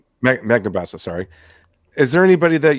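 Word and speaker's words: Magnabosco: even um Anthony um how do you say Banamaso uh Magnabasco Magnabaso sorry is there anybody that you enjoy their company to talk with?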